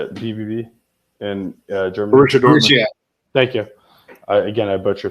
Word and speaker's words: Borussia Dortmund: But like Boris Dortmund, how do you say it? BBB in Germany. Borussia Dortmund.